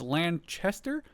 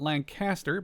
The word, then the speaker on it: Lanchester: This is Lanchester I believe and not Lancaster.